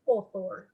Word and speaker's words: author: camila navarrete and the author i give some of the ideas okay argues and it's author remember a u is pronounced o author automobile authentic etc